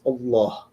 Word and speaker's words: Allah: they become fused and they become and is pronounced Allah right and so that's that's where the name